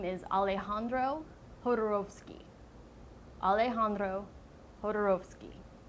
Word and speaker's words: Alejandro Jodorowsky: His name is Alejandro Jodorowsky. Alejandro Jodorowsky. Not Alejandro Jodorowsky, or Jodorowsky. Alejandro Jodorowsky.